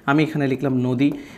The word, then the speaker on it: নদী: যে আমি এখানে লিখলাম নদী তো নদী শব্দের উচ্চারণটা হচ্ছে কিরকম নদি এভাবে নদি তার পরবর্তীতে হচ্ছে কবিতা তো